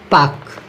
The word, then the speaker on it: Palk: लेकिन आप पाक की स्पेलिंग याद रखना, PALK। क्या है? PALK, पाक। तो इस क्वेश्चन का राइट आंसर हो जाएगा C।